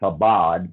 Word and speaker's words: Chabad: Jared Kushner is a devout Chabad Lubavitch, and it's spelled Chabad, pronounced Chabad, but Lubavitch, and he is a devout practitioner or follower of that branch of Judaism.